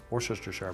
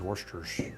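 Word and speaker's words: Worcestershire: our was sauce now if you look at it the way it's phonetically it looks like wor sister Shar but I think it's Worster sauce so anyhow this by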